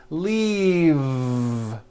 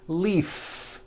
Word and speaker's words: leave: Keep the voicing going throughout the whole word and voice the V. Leave, like that. If you stop the voicing at the end of the vowel E, then you would be saying leaf with an unvoiced F. And the word we're trying to say is leave with that voiced V.